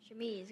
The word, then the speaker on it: chemise: The word is chemise. Chemise, got it.